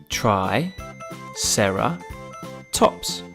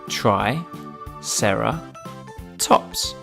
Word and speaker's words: Triceratops: the brilliant ankylosaurus now it's time for Triceratops try Sara tops can you say it with me try Sara tops let's learn all about Triceratops Triceratops was found